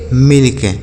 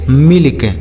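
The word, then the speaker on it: milk: टी I double L till M आई एल के इसे पढ़ेंगे मिल्क एम आई एल के मिल्क तो आप देख रहे हैं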